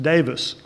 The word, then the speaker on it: Davies: I learned that our next speaker's last name is pronounced Davis, which was not my first inclination from reading it, but I learned that from a reliable source.